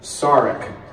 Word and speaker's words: Sarek: Leonard and Penny Cross the pronunciation of the name has always been Sarek and discovery I may be particularly Sonique order for me she keeps saying stearic and I didn't know